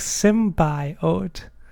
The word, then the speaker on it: symbiote: even more awkward like sim by oat like make sure that pronounce every single syllable like making clear that this is like three syllables but yeah other than